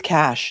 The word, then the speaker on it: cache: She says or he says it's it's it is cash not cache.